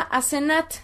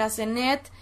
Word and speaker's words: Asenet: samek nun tav y se pronuncia asenat en hebreo lo pronuncian como asenat Aunque podría ser asenat podría ser asenet o asut asnet es decir hay varias fonéticas